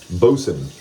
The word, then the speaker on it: boatswain: Bosun. What does a bosun do? You know, the thing that looks like it's spelled boatswain.